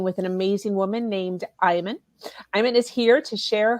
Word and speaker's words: Iman: is it iman um it's actually an arabic name so the correct pronunciation is iman but not too many people in the united states can pronounce that so iman uh you know like the model that was married today